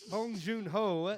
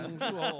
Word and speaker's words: Bong Joon-ho: Bong Joon Ho, which is Bong. I really Bong Bong Joon-ho. Joon Ho, yeah. Bong Joon-ho. It's Bong- it's almost like Juno, the way it's Yeah.